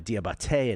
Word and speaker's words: Diabaté: Talking about Ball, Bridges, Miller, uh Diabaté and Kneppel. By the way, accent on the final E on Diabaté.